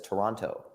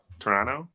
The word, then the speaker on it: Toronto: not from Toronto because he says Toronto because I pronounce the teas I'm from Connecticut I enunciate it Toronto Toronto as if there's no